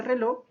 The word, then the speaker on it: reloj: Ahora veamos la palabra reloj, que la sílaba tónica también está en la última sílaba.